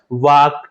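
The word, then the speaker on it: walk: समानता जैसे उपयुक्त उदाहरणों का उच्चारण करने पर, यहां पर जो है एल जो है उच्चारण साइलेंट यानी कि लुप्त हो जाता है, वाक, टाक, और यहां पर एल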